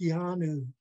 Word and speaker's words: yanu: The Y, yeah, is the same Y as in yellow in English. A Haida word that starts with Y is yanu, sea cucumber.